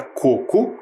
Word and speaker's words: coco: analisamos a palavra ece sabemos que a palavra coco é uma palavra paroxítona o que que significa isso tem a penúltima sílaba tônica e a palavra cocô é oxítona tem a última sílaba tônica percebemos também algumas diferenças